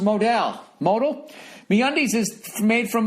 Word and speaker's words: modal: and feel fantastic uh note modal is pronounced Modell modal meundies is made